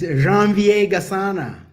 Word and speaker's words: Janvier Gasana: Try to pronounce your name for us. It's Janvier Gasana.